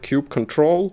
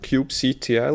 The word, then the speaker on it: kubectl: cube ctl we've heard cube control cube ctl or coupe cattle personally we like calling it cube cuddle because it's just as fluffy as the clouds we are deploying to while kubernetes user mostly